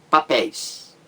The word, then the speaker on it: papéis: Papéis. A sílaba mais forte é a última. Pés. Então você tem aí uma palavra oxítona também. Por quê? Porque a sílaba mais forte é a última sílaba da palavra. Então o EI caiu aí na última sílaba da palavra mais forte. Então ele leva acento gráfico, acento agudo. Papéis.